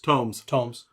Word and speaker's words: tomes: Did I say tombs? You said tombs. Tomes. I've heard it pronounced both ways.